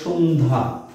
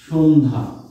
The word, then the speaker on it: সন্ধ্যা: আত্মীয়র পরে সন্ধ্যা। সন্ধ্যা, সন্ধ্যা এখানে কি হবে?